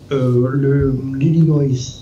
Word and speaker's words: Illinois: L'Illinois, si ma prononciation est correcte.